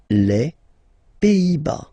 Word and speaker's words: Pays-Bas: Final S here, not pronounced. Same thing here. Pays, and then bas. Les Pays-Bas.